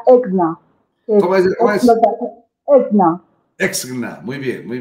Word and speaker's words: ESCNNA: exactamente esa sigla es cena exactamente es Qué bueno realmente se pronuncia exna exna exna muy bien